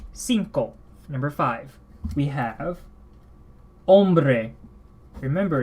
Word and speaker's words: hombre: number five we have hombre remember in Spanish th at the begin of the word which is almost always when we're to begin the word I believe and it is silent hombre male or male